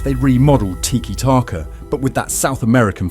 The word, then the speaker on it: tiki-taka: Where did the phrase come from and how do you pronounce it properly? Tiki-taka, that's something like this.